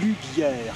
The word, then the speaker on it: Loubière: C'est rue Lubière qu'il faut prononcer.